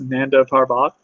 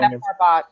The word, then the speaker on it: Nanda Parbat: She can go, to how's it pronounced? Nanda Parbat. I don't have the spelling. Nanda Parbat, yeah.